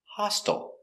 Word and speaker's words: hostile: Pronunciation, hostile.